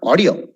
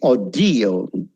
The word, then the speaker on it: audio: It's not audio. It's audio. Video. Audio. Video. A second syllable le emphasis kodakanam.